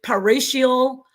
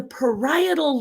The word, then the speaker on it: parietal: Guju and and professor, how you're pronouncing it, your paratial, the parishioner. It's the parietal lobe.